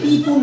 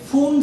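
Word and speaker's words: Pfund: এটা হচ্ছে পি ফুন না এটা হবে ফুন সিরিজ মানে পি উচ্চারণ হবে না ফুন সিরিজ ওকে।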